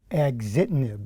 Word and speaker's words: Axitinib: or frontline treatment, where you take a pill, Exhibitive. How do you pronounce that, doctor, exactly? Axitinib.